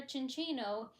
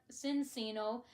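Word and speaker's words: Minccino: So, like, you apply the Italian way of pronouncing it like you would a cappuccino.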